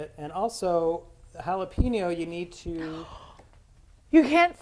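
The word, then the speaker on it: jalapeño: It is jalapeno. When you say it jalapeno, pino rhymes with a man's body part. And what body part would that be? It would be the penis.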